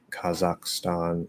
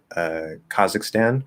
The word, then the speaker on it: Kazakhstan: lot of these like is it kazakhstan no no stan is stan okay stan is stan